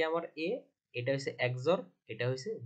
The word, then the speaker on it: XOR: এক্স একজর বি ঠিক আছে এটাকে আমরা বলবো একজর বি তো এই যে লেদার পয়েন্টে দেখাইতেছি তাহলে এইটা কি আমার এটা হইছে একজর এটা হইছে বি তার মানে আমরা উচ্চারণ করবো